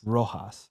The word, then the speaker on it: Rojas: How do I pronounce the last name? Rojas.